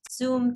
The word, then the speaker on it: Xoom: Is that pronounced Zoom too? Yeah, I think so. I think it's pronounced Zoom.